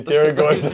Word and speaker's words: pterygoids: Your pterygoids, I don't know where they are. They start with a silent P.